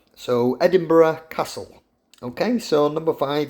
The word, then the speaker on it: Edinburgh: thing it looks like adding bag it's bag is actually pronounced borough so Edinburgh Castle okay so number